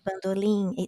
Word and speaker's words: Bandolim: concerts is Jacó do Bandolim. Like bandolim, even though it ends in M, we pronounce it as an N, so it's Jacó do Bandolim.